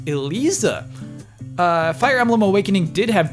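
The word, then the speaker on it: Eliza: So, Tekken 7's vampire name is pronounced Elisa.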